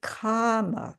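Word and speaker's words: kāma: So, comma comma with a long a that has to do with desire uh with the um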